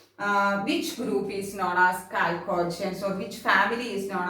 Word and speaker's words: chalcogens: Which group is known as chalcogens, or which family is known as chalcogens? It is coming oxygen family, or group 16 is known as what? Chalcogens, or some of them they will pronounce it chalcogens.